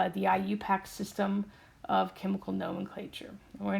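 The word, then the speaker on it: IUPAC: how to say this I say it really could IU pack and people my god what is she saying but phonetically I you pack his eye and then you and then pack right and all I'm doing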